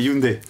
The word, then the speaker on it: Hyundai: serait-ce que les gens se posent la question de savoir si on prononce Hyundai ou Hyundai, ça veut dire déjà qu'ils connaissent la marque. Quelle est la réponse? C'est Hyundai.